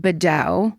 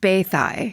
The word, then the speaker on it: Beddau: I would pronounce it Bedow, because that's Beddau. Mm-hmm. And it says in parentheses, pronounced Bathai.